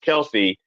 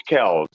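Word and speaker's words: Kelce: put in put in the story that Travis Kel's last name is technically not pronounced Kelsey it's actually pronounced Kel now how can you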